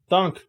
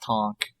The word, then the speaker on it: Thonk: shields gotcha uh okay thunk what are you doing just call them thunk it's spelled thonk but it's pronounced tonk i meant to say